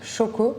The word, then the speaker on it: Xoko: que je travaille avec Xoko qui se prononce Choco mais ça s'écrit X O parce que c'est à l'hypanique donc ça se prononce choco.